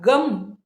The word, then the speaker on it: गं: गण प्लस आदिम तो गण शब्द का पहला ध्वनि ग हलंत ग लेना है उसके प्रथम उच्चारण के बाद वर्णमाला का पहला अक्षर अ का उच्चारण करके ग बनता है ग अक्षर प्राप्त हुआ फिर परत रहा मतलब उसके बाद ग और अ के बीच के अनुस्वार का उच्चारण करने के बाद गम यह रूप हमें मिलता है यह रूप बनता है